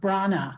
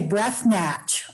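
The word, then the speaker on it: Breathnach: a woman named Sarah Brana. I used to say breathnatch all the time until I realized it was a Welsh name, and the pronunciation was in her second book.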